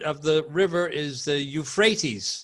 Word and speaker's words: Euphrates: think the pronunciation of the river is the Euphrates Euphrates is the correct pronunciation in English India then I heard the